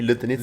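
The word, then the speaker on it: лютеница: You say it correctly. Lutonita. Lutonita. Yeah, it's perfect.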